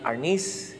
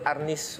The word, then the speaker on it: arnis: the term for arnis arness is the spanish term from which the word arnis was derived that's the tagalog pronunciation of arnes escrima is the more